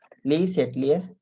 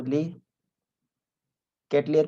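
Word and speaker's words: Le Chatelier: तो इसको ली कैटलियर प्रिंसिपल भी बोलते हैं, कोई ली सेटलियर भी प्रिंसिपल बोलते हैं, आपको जैसे सुटेबल हो उस हिसाब से आप उसको प्रोनाउंसिएशन उसका कर सकते हैं।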